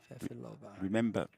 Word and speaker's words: Fefilova: Fefilova. Remember the lovely dessert, pavlova, and then just change it a little Pavlova.